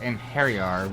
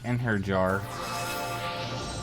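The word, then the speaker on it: Einherjar: I think it's pronounced Enheriar, but I always say it Enherjar. It's just how it looks to me.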